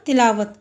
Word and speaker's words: تلاوت: تلاوت لفظ نہیں ہوتا، تلاوت۔ تے کے نیچے زیر، لام پہ زبر، الف ساکن ہے، واو پہ زبر اور تے ساکن۔